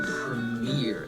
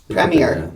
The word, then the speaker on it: premiere: that one again so you put emphasis on the premiere you say if premiere they put the emphasis at the beginning and put it at the end premiere verse premiere premiere